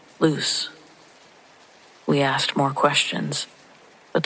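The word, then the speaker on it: Luce: It's spelled L U C E. Luke, I guessed. Sam shook his head. No, that's L U C E like loose.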